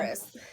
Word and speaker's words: Amaris: Amaris.